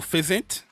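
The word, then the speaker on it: Physint: Oh, fizzant. That's how you pronounce it.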